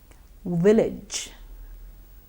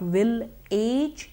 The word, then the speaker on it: village: Village. Now you would notice that it's not will-age, it is village.